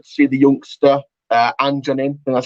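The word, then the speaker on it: Anjorin: know it's good to see the youngster uh anjon in and that's how it's pronounced uh getting a run out of the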